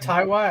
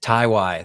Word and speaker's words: TyY: Nicky Jam, Brandy, ASAP, TYY, ASAP Tide. I don't know how to pronounce that. And British rapper H. Oh, ASAP TyY, I know him. TyY, that's how that's said.